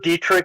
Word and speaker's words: Dietrich: my name is Dietrich the last name is spelled like diet rich d e t r